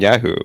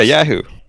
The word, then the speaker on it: Yahoo: saying yeah who yeah Yahoo is this actually a regional difference thing like what the it's I think I think we're emphasizing the second syllable and you're like how